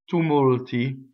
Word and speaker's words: tumulti: So this version of ne, ne ttumulti, double T. Again, we go up to the double T, we don't say it. We do a long A vowel, we stop phonation, and then we don't say the T, but then we say it.